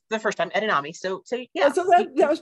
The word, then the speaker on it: edamame: Well, you did say it right the first time, edamame.